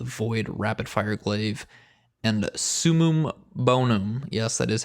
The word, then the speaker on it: summum bonum: forthcoming deviants the void rapid fire glaive and summum bonum yes that is how you pronounce it the ark wave frame sword you